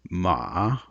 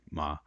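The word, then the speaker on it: 马: one here for horse in the kind of prescriptive pronunciation of it it's ma which is what we can call a dipping tone but in fact in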